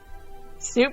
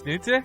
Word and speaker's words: Snute: Snoot probably knows how to say less. Snoot's just like, it's Snute? Can you please say it correctly before questioning my other pronunciations?